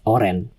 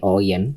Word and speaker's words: oren: Oyen is a way to pronounce oren. It's not supposed to be oyen, but it's oren. Oyen is like the cute way to say oren in the color.